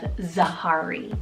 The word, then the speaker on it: Zahari: Then for my second and very final name on this list, for the letter Z, I love Zahari, spelled Z-A-H-A-R-I, Zahari.